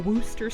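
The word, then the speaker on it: Worcestershire: the Year getting it if you can pronounce the chesher cat from Alice you can pronounce the woster sauce we're creating a whole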